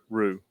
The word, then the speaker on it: roux: And the fresh Gulf shrimp tonight got a good dark roux. Did I say that right? No, roux. Roux for gumbo tomorrow. Listen, I can't pronounce them, but I've watched Dave cook it.